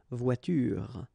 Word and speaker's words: voiture: The last thing that you will hear is this r, voiture, voiture. So it's not here, okay? So clearly you don't pronounce it here.